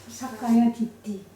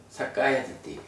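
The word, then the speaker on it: sakkāyadiṭṭhi: 사까야디띠. 사까야디띠. 잘 읽으시네. 아니 왜냐하면 제가 그 언젠가 보니까 사까야라고 읽으시는 것 같더라고. 아 예. 그게 이제 뭐 불어적인 어떤 뭐 이런지 몰라도 까야하고 깨야하고는 다른 거죠.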